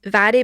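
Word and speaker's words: Mhairi: my sister's middle name is Vary, but it's spelled M-H. Yeah. M-H-E-I-R-I.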